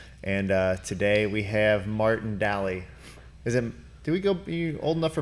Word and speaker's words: Dally: Is that how you say your last name? Daly? Daly, yeah.